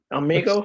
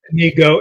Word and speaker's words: Inigo: Amigo, his friend. No, Inigo? it's Inigo. It's with an I, Inigo.